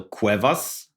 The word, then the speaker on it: Cuevas: answers stay tuned our today's guest is Cuevas did I pronounce it good or you nailed it thank